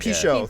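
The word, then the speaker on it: Pinchot: How do you pronounce his last name? I don't know. Bronson Pichot. Pichot.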